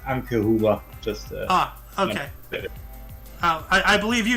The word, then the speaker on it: Anke Huber: Actually, it's pronounced Anke Huber.